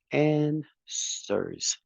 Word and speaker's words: answers: and answers very good remember that the W is not pronounced answers answers awesome Carlos and